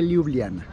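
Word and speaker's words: Ljubljana: la Plaza Central de liubliana liubliana se escribe con jotas en lugar de is pero a quienes lo ven y a las jotas se dicen como allí algo así entonces es Liliana muy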